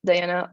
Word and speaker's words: Diana: yep my name is diana um i i'm originally from mexico city so i do pronounce my name in spanish so i say diana